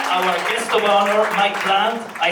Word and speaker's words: Plante: And then our guest of honor, Mike Plante, I say it correctly, right? Plante, perfect.